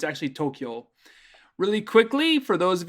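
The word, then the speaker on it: 東京: word uh the the capital of japan people mispronounce it they say tokyo and when it's actually tokyo really quickly for those of you who are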